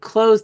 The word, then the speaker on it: clothes: Like clothes does have a silent letter. Has it actually that th is silent, right?